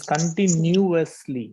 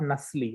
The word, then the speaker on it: continuously: Continuously, it is continuously. Okay, so new, it's not nusly.